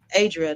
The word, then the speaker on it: Adria: Yeah, I didn't want to say her name wrong because I've been calling her mom name, Adria. That's what I've been calling, but it's Adria. Adrian. How you say it? Yeah. Hers is Adria. I think her mom is Adrian.